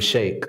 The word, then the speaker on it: Shaik: my name is sheikh so it rhymes like a milkshake right so people say when